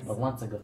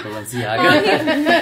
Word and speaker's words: Balenciaga: Balanzaga. That's how you say it, because I never knew how to say it. No, it's Balenciaga.